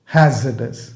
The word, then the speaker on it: hazardous: hazardous. ஆனால் spelling வந்து HAZARDOUS. இங்கே ஆர் சைலண்டாக வரும். hazardous அப்படின்னு ப்ரொனவுன்ஸ் பண்ணுவோம். hazardous மீன்ஸ் டேஞ்சரஸ் அந்த மீனிங்கில் வரும்.